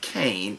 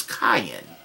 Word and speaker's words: Cain: name contains a name and Aramaic is not cane its cayenne it's pronounced cayenne and a spell phonetically ka H